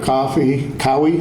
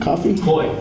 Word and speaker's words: Cowie: Moore, who was amazing, and the surgeon, Dr. Cowie, I think is how it's pronounced, Coffey? Coy, thank you.